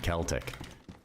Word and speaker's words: Celtic: Say it with like a K sound, Celtic.